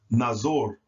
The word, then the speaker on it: nazor: ah as an opposite so this word would be pronounced nazor nazor and just as I've